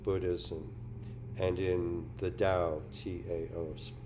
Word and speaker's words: Tao: and in the Dao Tao pronounced as as if it was spelled D O W.